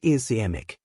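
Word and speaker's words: ischemic: The most common type about 87% of all strokes are eskeemic pronounced eskeemic.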